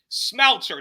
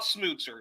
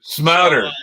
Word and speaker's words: Smouter: Smouter, not Smooter. Smouter. Okay, I appreciate that.